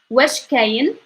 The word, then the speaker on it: وش كاين: Okay, let's pronounce this. وش كاين وش كاين وش كاين بلاصة بلاصة بلاصة, and ل is two.